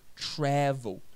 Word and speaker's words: travel: Se pronuncia travel. Observa que é a primeira sílaba, que é a sílaba forte.